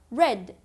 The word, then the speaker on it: read: The past of read is read. The same spelling but different pronunciation. Read, read.